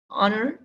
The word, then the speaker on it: honor: that begin with vowels the first letter of the word honor for example is a consonant but it's unpronounced in spite of its spelling the word honor begins with a vowel sound therefore we use n